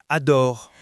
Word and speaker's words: adore: Et ensuite, le mot « adore ». Là, c'est un mot de contenu, donc il ressort beaucoup plus. Et l'accent est sur la dernière syllabe.